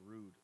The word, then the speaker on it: Rhude: His brand is called Rude. It's spelled RHUDE.